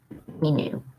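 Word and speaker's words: minou: spell it m-i-i-n-n-o-u but it's just pronounced we knew anyways well i have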